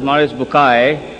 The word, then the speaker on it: Maurice Bucaille: Maurice Bucaille, pronounced as Maurice Bucaille.